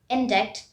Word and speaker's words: indict: is not ai instead it's i say t indict it looks like index but it's actually enzyme